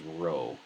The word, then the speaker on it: rho: pee I'm saying the wrong thing that is Rho Rho you pronounce that Rho naught P you want to